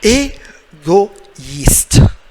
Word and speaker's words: Égoïste: Égoïste. Égoïste. Il faut dire une autre fois égoïste. E est muet. So silent letter at the end. The E is silent.